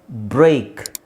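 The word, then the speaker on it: break: ಕಾರ ದೀರ್ಘ ಎ ಗ್ರೇಟ್ ಬ್ರೇಕ್ stake so ಇದರ ಉಚ್ಚಾರಣೆ ಎ ಅಂದ್ರೆ ಎ ಐ ಬಂದಾಗ ಏನು ಬರುತ್ತೆ ಎ ಐ ಎ ಐ ಬಂದಾಗ ಏನು ಸೌಂಡ್ ಬರುತ್ತೆ ಅದೇ ಸೌಂಡ್ ಬರುತ್ತೆ A stake ಬ್ರೇಕ್ ಗ್ರೇಟ್ ಸೊ ಈ ಮೂರು ಪದ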